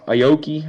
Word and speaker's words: Aoki: to you refractory off the first pack uh Aoki that's how you pronounce his last name I know who he